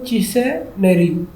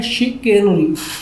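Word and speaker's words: chicanery: Number 10 पे है synonym of चिसेनरी। I don't know इसकी प्रोनाउंसिएशन मैंने चेक नहीं की, मुझे एक सेकंड दें। हाँ, इसकी जो प्रोनाउंसिएशन है वो है शिकेनरी, शिकेनरी।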